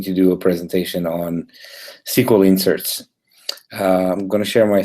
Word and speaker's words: SQL: is so microsoft see a part sequel it's pronounced sequel it stands for structured query language and it's